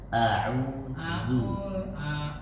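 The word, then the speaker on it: أعوذ: Kalau harokatnya zumma maka dibacanya moyong. A'udzu.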